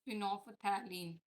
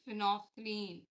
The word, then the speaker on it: phenolphthalein: Don't pronounce it phenolphthalein. It's phenolphthalein.